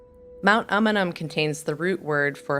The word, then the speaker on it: Umunhum: a few of you didn't quite know how to pronounce the name of this m before you traveled here it's umum Mount amanam contains the root word